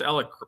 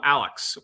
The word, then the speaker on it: Alec: You pronounced Alec properly. Yeah, she did. That's right. And how many times did your girls call him Alex this week?